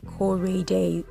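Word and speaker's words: Koraday: y d a y cor day yes so you can basically just spell it the way I pronounce it cor and of course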